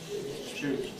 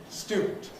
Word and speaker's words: student: Well, you notice that the first sound is different and so is the rest. So, we get this kind of thing. Stewart student compared with my more conservative pronunciation which was student ste student English like all languages is changing.